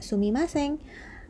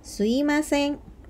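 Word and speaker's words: すみません: moichido Hai slim asing itu artinya Maaf ditulisnya sumimasen tapi dibacanya swim Hai karena biasanya orang Jepang itu mengucapkannya tidak sumimasen mengucapkannya slime seng kemudian moichido mouichido itu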